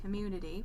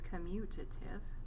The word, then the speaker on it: commutative: that's the commutative property it keeps saying it wrong commutative i want to say community but it's commutative and then number two